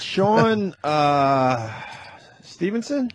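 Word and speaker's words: Sean Stephenson: And we got Sean Stevenson?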